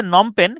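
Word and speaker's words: Phnom Penh: এটা হচ্ছে কম্বোডিয়ার রাজধানী উচ্চারণটা হচ্ছে নমপেন কিন্তু বানানটা ইন্টারেস্টিং দেখেন নমপেন মূলত উচ্চারণটা এতটুকু আসে নম এনও এম নম পি এন পেন নম পেন কিন্তু এটা আগে পরে লেস দেওয়া আছে শুরুতে আছে পিএইচ পিএইচ এবং শেষে আছে আরেকটা এইচ পিএইচ নম পেন এইচ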